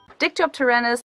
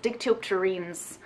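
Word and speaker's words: Dictyopterenes: about sex that's creepy dicto up teranas sup guys by the way the correct pronunciation for this word is dick teal terrines please forgive past maria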